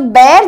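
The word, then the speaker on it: bear: होता है बैर का, सो बैर जो है बी ई ए आर को बैर बोलते हैं, बट कई लोग उसको बियर प्रोनाउंस करते हैं। प्लीज गाइस, बियर यानी जो पीते हैं वो बियर होता है शराब, इसे बैर कहते हैं, ओके ठीक है।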